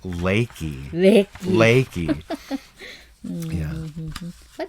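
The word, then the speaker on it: Leakey: like a leaky faucet or something but it's pronounced laiki Nick laiki but it's fun to you know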